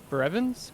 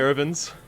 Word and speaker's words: Baravins: We could get one of the Brevins? Brevins? Is that how it's said? Baravins. Baravins.